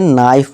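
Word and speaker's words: knife: हो हमारा साइलेंट होगा अब इसे क नाइफ नहीं से नाइफ पढ़ेंगे के क्या है हमारा साइलेंट है इस तरह नॉलेज के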